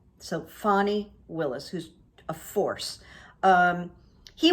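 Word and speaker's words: Fani Willis: her name uh it it doesn't sound like it's spelled so fanny willis who's a force um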